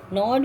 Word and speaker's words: gnawed: Gnawed means in the sense bite. See, this is the word. The spelling starts with G, but we don't pronounce this G. G is silent.